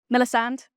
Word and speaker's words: Millisande: Millisande is how you pronounce my name, but call me Millie, it's fine.